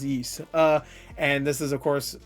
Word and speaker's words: Ys: I believe it's pronounced Yeast.